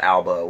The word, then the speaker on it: Elba: Like, what, Idris Elba? Who is it? Like, who's like, okay, like, is that pronounced his last name right? Alba?